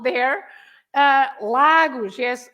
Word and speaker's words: Lagos: Lagos yes Lagos the every time you have a word without accents the general rule because I'm going to speak about the third rule but the general rule is you stress the syllable the sound that is before the last one okay even if you